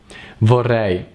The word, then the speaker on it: vorrei: a bourree bourree bourree and that's the right pronunciation for I vorrei okay so between Wow vawa's Mary example at